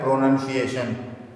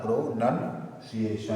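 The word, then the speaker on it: pronunciation: प्रोनाउन पढ़ते हो ना, प्रोनाउन नहीं होता है, प्रोनन होता है। ठीक है, प्रोनन होता है, प्रोनंसिएशन, प्रोनंसिएशन।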